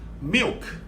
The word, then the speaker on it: milk: 밀크가 아니라 milk, milk, milk, milk.